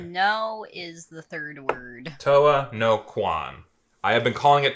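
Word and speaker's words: Towa no Quon: It's It's Toa no Kwan.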